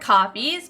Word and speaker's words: Ko-fi: They're called coffees because you give people like a coffee, but it's spelled Ko-Fi. So people call it both.